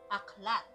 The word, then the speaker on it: aklat: Aklat. Aklat? Yeah, aklat. What's that in English? It's a book. Oh, okay. Spell it out.